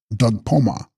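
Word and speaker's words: bdug-spos-ma: pronounced friend B and Doug spma pronounced Doug Poma the color of these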